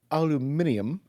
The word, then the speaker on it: aluminium: Aluminium. aluminium, the way the Brits say it.